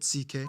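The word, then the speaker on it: Székely: we get to the ck people the second most populous minority yes that's how you pronounce it ck basically cousins of the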